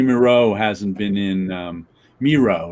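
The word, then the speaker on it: Mireault: hasn't been in um miro right rhymes with zero i t and only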